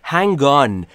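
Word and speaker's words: hang on: کدوما رو شما بلدید هنگان هنگان و نکته تلفظی رو دقت کنید هنگ به گ ختم میشه و بعدیش آ در آن رو داریم هنگان هنگان صبر کن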